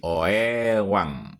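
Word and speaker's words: Oeang: Ejaannya ditulisnya OE A N G. Pada saat itu OE dibaca U jadi OEwang Republik Indonesia atau disingkat dengan huruf menjadi O R I.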